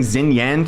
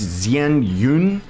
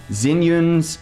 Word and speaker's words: Xianyun: 0.4 seconds I'm sorry I keep saying zenan throughout this video but it's Zen Yun or or something I I'm pronouncing it wrong but just know that